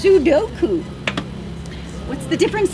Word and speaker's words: Sudoku: Oz says doing crosswords and Sudoku. Sudoku. What? You pronounced it incorrectly. It's Sudoku.